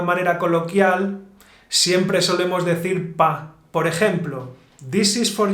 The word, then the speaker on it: pa: Bueno, Juan, vamos a empezar con el pa. Bueno, primero, pa. ¿Qué es pa? Pues creo que es para. Pa is para. Entonces, acortamos la palabra y decimos pa. En una manera coloquial, siempre solemos decir pa.